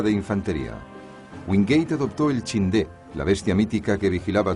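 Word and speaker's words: Chinthe: Wingate adoptó el Chindé, la bestia mítica que vigilaba todos los templos birmanos, como símbolo para su fuerza. Pero una incorrecta pronunciación del nombre llevó al apodo de Chindits.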